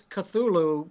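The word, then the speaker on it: Cthulhu: be wearing your strainer is that how it's pronounced thulu CU I been saying cthulu and it's it's it's it's it's cthulu but most people just most people I hear say it just say thulu because it's easier yeah cthulu is like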